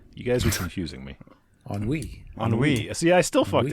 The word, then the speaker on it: ennui: pronounced on way. You guys were confusing me. Ennui.